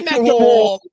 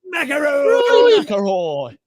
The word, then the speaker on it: McIlroy: Rory McIlroy. McIlroy.